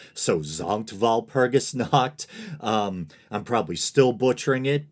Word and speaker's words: Sankt Walpurgis Nacht: This is just a little thing, hopefully, but I said Sankt Walpurgis Nacht, when in German I believe the S should be pronounced as a Z, so Sankt Walpurgis Nacht.